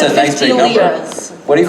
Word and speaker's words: lira: Lira, lira. What does it depend on the pronunciation? Is it people from Lebanon say it that way and the rest of the world says Leos? No, it's called lira.